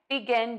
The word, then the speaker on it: begin: You have a couple of choices here for syllable number one. You can say B with the long E, or you can say ba with the short A.